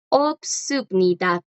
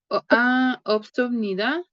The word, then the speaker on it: 없습니다: Y sub, Ajá, perfecto, esa pronunciación estuvo perfecta. Isub. ok. Y el verbo no tener en formal es, chicos, obsubnida.